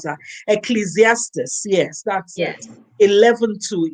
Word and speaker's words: Ecclesiastes: Oh, I never know how to pronounce that. Ecclesiastes.